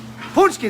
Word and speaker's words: Paczki: bakery happy happy birthday ponsky that's how you say it also known as fat